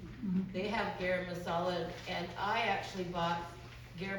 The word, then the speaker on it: garam masala: So garam masala. It's gam masala.